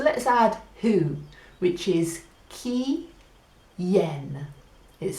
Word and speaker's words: quién: add who which is key yen is spelled qu I n so in Mahina the key in Mahina a bunch of yen who has the key who has the yen yen and maybe that